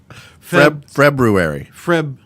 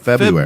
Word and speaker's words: February: February. No, not Feb. February. February? No, it's February. February. Okay. Spell it. Febru. Oh, right. R. It's not February.